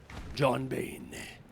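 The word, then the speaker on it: J0hn Bane: b a n e John Bane like Bane froms Batman he's a beauty very thankful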